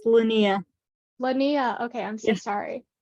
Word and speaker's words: Linnea: It's pronounced Linnea.